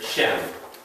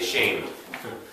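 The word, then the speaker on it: שם: okay a form of this word here shem or the ashkenazi would sometimes say shame but shem means name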